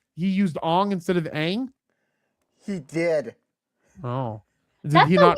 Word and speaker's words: Aang: Okay, so how do you say it? It's Aang? Aang, with a long A.